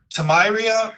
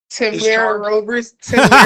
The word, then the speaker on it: Tamira: Tamiria? Tamira. I apologize. Tamiria, is that how you pronounce it? Tamiria? She just told him. Yeah, you almost got it.